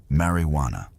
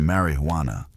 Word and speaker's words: marijuana: The term marijuana, often pronounced with a soft rolling R, was initially a descriptor for a specific preparation of the plant.